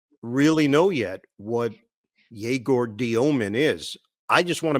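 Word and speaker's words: Dëmin: States, he just said Demon because he thought that it was too complicated for us dumb Americans to be able to pronounce international names correctly. But it's Diomin, like Dyoh Min.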